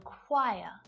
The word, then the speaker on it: choir: The letter H can be silent too, and in a few different ways. Sometimes it's not pronounced at the start of words, like honest, honor, and hour, and it can also be silent if it comes after a C, G, or R, like in choir, echo, ghost, rhythm.